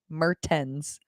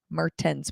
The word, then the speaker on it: Mertens: Merens. Mertens. Pronounce the T.